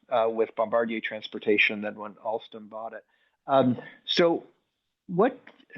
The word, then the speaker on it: Alstom: I'm not the only one who calls it Alstrom. It's really Oh, Alstom.